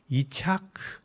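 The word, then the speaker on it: יצחק: 이삭의 이름이 히브리 발음으로 이착크에 이착크 자크 짝크 차크 자크라고 발람하는 거예요.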